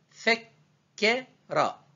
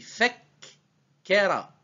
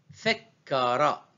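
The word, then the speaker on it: فكّر: Donc, on va prononcer Fekera. Ke est prononcé deux fois. On dit Fekera. Fekara.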